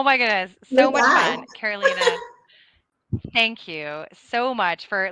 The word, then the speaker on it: Carolina: you can uh and my name is both like north and south carolina but pronounce the spanish way that's the easiest way to remember on linkedin uh carolina so you can